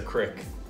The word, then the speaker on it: creek: It's not a creek, it's a crick.